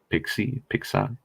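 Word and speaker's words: PIXE: The E is silent anyway. It's Pix.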